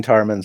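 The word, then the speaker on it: Tar'Mann: place to go claiming tarmans and their slices yeah i do need to use my agent trying to sell planets tarman rhymes with sarman it's mine it's mine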